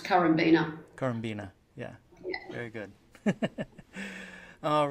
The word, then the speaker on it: Currambenna: It's pronounced Currambenna. Currambenna, yeah.